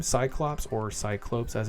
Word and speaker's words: Cyclopes: The name Cyclops, or Cyclopes as it's originally pronounced, means circular eyes or round eyes.